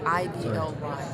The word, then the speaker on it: idly: Okay, this is pronounced Outly, right? What's that? Or Outly? I-D-O-Y. Ideally? I-D-O-Y. I-D-O-Y? I-D-L-Y. Idly? Idly. Yeah. Idly? Okay, cool.